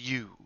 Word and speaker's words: ewe: You and you are two different words. They sound the same, but they do not mean the same thing.